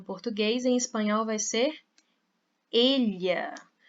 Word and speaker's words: ella: em espanhol vai ser ella. o E fechado. E qual que é a pronúncia desses dois L's aqui? Você pode pronunciar como eu fiz, como se fosse um LH, elha.